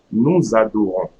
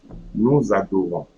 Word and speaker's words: nous adorons: Nous adorons. Nous adorons. So here, I'm not pronouncing the S.